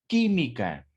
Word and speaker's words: química: aquí hay un antes la palabra química el mismo caso la última es k la penúltima es mi y la antepenúltima es que aquí es precisamente donde recae la sílaba tónica por lo tanto es